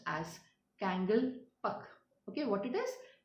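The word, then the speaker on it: Kangleipak: which we are going to read that is pronounced as kangal pak okay what it is kangal pak and people so people who are there in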